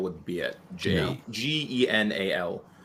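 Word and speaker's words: ginnal: And Janelle, if you're looking for an island term for dishonest, Janelle would be it. Genal.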